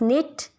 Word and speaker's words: knit: Sometimes some people says it cano. It's not cano, not knife, not knit. It's knit, knife and no.